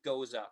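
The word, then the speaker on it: Gose: a second tower ale but more correctly is the term goza for this style of beer um does that answer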